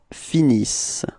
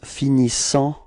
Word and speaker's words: finissent: Okay, so you get, for the verb, you will get ils finissent. Repeat. Ils finissent.